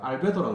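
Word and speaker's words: albedo: 알베도라고 그러죠.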